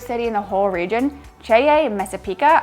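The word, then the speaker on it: Ceglie Messapica: Next up, we have our favorite city in the whole region, Ceye Messapica. I think I'm pronouncing that right. I was saying Segli Messapica, and all the Italians were like, that doesn't exist.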